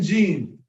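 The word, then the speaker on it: جيم: about g g g we're pronouncing Gene Gene is not the same as J J it's g g g g g and what happens is that the sound comes from around your tongue and yeah with the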